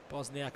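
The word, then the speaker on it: Bošnjak: A couple of J's thrown in there, which I might have been pronouncing last week, but Bosniak on court.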